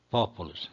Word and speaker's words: populus: Populus, regra 3. Quando a penúltima é breve, que é o pu, o acento vai para a antepenúltima.